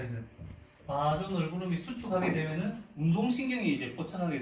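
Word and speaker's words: vasa nervorum: 그거를 이제 발음을 하면 이제 바조 널브럼, 뭐 아메리칸식으로는 베이사 널브럼이라고도 하는데, 이 신경의 혈관이 수축하게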